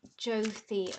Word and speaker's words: Jyoti: Janavi says Jyoti is pronounced more like Jothi.